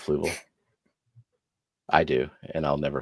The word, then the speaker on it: Fluval: almost did it like remember when Grant used to say flu Veil instead of Fluval I do and I'll